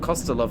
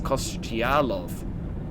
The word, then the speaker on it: Košťálov: It's not Kostelov, it's Košťálov. Weird.